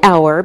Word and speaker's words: hour: We say an hour because we don't pronounce the H, so it sounds like a vowel sound.